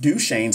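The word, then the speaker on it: Duchenne: I just found out how to say it duch shanes is an xlink recessive Disorder so daughters have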